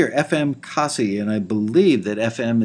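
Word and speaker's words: Cossey: And that was called Happy-O from FM Kazi. Thank you for clarifying the pronunciation on that.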